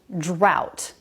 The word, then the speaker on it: drought: of this word drought the one with oh you is pronounced drought the one with au